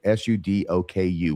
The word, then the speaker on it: sudoku: d o k u which in Japan cuz I know cuz I went there sudoku right he can never say it right to save his soul that sounds right that sounds right and every time he says it I always says or